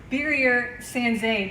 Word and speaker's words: Birger Sandzen: Ron, tell us a little bit about Birger Sandzen.